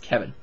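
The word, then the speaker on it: Que'vonne: His name was Q-U-E apostrophe V-O-N-N-E, and it was pronounced Kevin.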